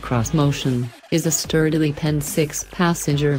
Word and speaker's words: Xmotion: This motion, which Nissan insists should be pronounced cross-motion, is a sturdily penned six-passenger vehicle, riding on all-terrain rubber.